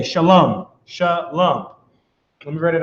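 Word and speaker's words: שלום: This is how it's pronounced. Shalom.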